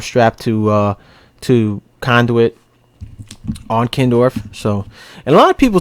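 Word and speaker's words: Kindorf: of what it's called it's what it's called kin Dorf some guys call it Ken doll they spell it wrong and the supply house or what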